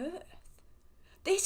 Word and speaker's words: Heth: get it because like I suppose it does sound like heart in a way like Heth if you came here